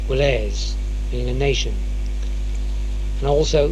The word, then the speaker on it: gwlas: in reality quite simple, because the W between the G and the L and the G and the R is barely voiced. For example, Cornish word GWLAS, Gwles, Gwles, meaning a nation, and